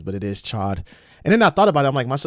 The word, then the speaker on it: Chod: It is Chod. It is spelled C-H-O-D.